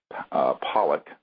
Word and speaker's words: Pawelec: a very important witness, William John Pawelec, is how you say his last name, although it's spelled Pawelec.